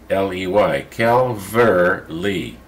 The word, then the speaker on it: Calverley: pronouncing my last name my last name is kelverley c-a-l-v calver lee and that's the way you say it they people that get